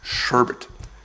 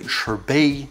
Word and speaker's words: sherbet: kibosh on that six sherbet some people say herb a because they think about sorbet and their similar things through sweet their desserts but the one is called sherbet and the other one